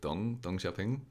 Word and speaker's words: Deng Xiaoping: I believe the correct pronunciation is like Deng Xiaoping, Really, but yeah, I didn't yeah.